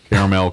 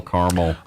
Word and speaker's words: caramel: do I I I'm I've caught myself sing caramel both ways caramel caramel it's me the way